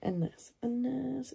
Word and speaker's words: الناس: أحب الناس you see you don't pronounce the lam it's ألف لم نون ألف سين الناس no you say الناس okay أكثر is a comparative, so أكثر is a superlative.